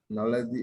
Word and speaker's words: knowlesi: Knowlesi is spelled Knowlesi.